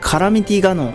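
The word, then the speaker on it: カラミティガノン: 薬剤ガノン、皆さんご存知カラミティガノンと読みます。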